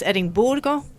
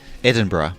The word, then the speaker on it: Edinburgh: it properly classic is edoro how do you pronounce Edinboro Edinburgh Edinburgh Edinburgh see edinb but it's it's not